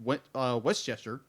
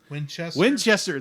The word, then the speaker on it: Winchester: Batman who's voiced by Dean Westchester. Winchester. Thank you. I knew I was going to say it wrong. Winchester. I love that stuff. It's the rifle, not the area where the X-Men train.